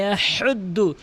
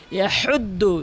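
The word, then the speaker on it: يَحُضُّ: ফাযালিকাল্লাযী ইয়াদউল ইয়াতীম ওয়ালা ইয়াহুদ্দু, অধিকাংশ লোক এখানে মার করে দিনই অবশ্য, এখানে কিন্তু মারাত্মক লেভেলের ভুল করে, ছোট হা উচ্চারণ করে, এখানে বড় হা উচ্চারণ করতে হবে। ইয়াহুদ্দু, ইয়াহুদ্দু আলা, আলা তো আ,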